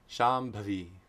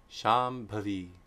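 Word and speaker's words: Śambhavī: So if Anuswara precedes a labial, it's very simple. Labial nasal sound is ma. Name 122. Shambhavi. Shambhavi.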